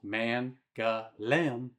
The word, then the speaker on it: Mangalem: There's Mangalem, pronounced Mangalem, which is the quarter with those famous white Ottoman houses climbing up that hillside.